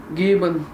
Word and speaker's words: geben: – Geben Sie... C’est une expression normale. – Geben? Donne-le-moi, s’il te plaît. Et je dis Giben. – Giben. – Geben!